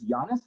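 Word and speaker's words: Yonnus: the first one was giannis is that the way it's pronounced y-o-n-n-us yeah yona saktani uh he is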